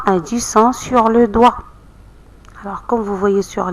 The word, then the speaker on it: doigt: Sur le doigt, aussi le mot doigt, on n'entend pas G. C'est une lettre muette.